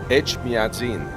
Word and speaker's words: Echmiadzin: Echmiadzin. Echmiadzin.